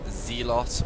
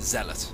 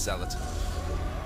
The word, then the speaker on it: zealot: lot of videos and people pronounce zealot as like uh god, how do they say zeot or zlot or whatever. It's zealot. Okay, dudes. If just in case you don't realize it's zealot anyway, cuz it kind